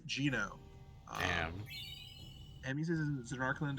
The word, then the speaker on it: Geneaux: Well, simply put, that's Sin Spawn Geno, baby. Gino? That's Yeah. how you say it? Mhm. Alright. Correct answer is Gino.